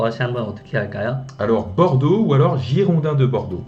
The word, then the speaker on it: Bordeaux: 황희 선수가 있는 발음 한 번만 더 다시 한번 어떻게 할까요? Alors, Bordeaux ou alors Girondins de Bordeaux. 지용당 드 Girondins de 보르도. Bordeaux, 네.